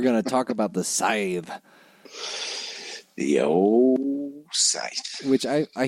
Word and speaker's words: Sith: thinking Star Wars, so Scythe. Yeah, I was going to say, like, hello, Darth Vader. Yeah. Well, it kind of ties in, doesn't it? Maybe it is Sith. That's my official pronunciation.